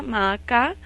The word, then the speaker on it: Maacá: Su nombre en hebreo es igual que como lo encontramos en el español, la pronunciación es la misma, Maacá, y bueno, con este